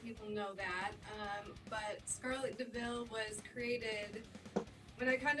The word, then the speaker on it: DeVille: Is it Scarlet Deville? Deville? How do you say it? Scarlet Deville. Deville. Like the cat.